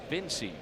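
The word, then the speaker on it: Vincej: V as in Victor, I-N-C-E-J. Pronounced Vinci.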